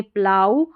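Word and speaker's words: plough: इसका उच्चारण प्लाऊ में जैसे हल इसको बोलेंगे प्लाऊ और फिर डी आर को ड्र आऊ ओ यू जी एच का आऊ आऊ और टी को ट ड्राउट और यह है स्लाऊ इन तीन स्पेलिंग्स में जिनका ज्यादा इस्तेमाल होता है प्लाऊ ड्राउट और स्लाऊ यहां पर ओ यू जी एच को आऊ करके प्रोनाउंस किया जा रहा है।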